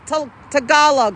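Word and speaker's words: Tagalog: my tala is it it's talog right that's the right way to say it tal talog okay cuz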